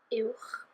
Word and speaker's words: uwch: And uwch, uwch.